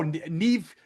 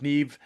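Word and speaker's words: Niamh: Oh, Neve. Nev Kahan. Uh which sounds like Steve. Neve sounds like Steve.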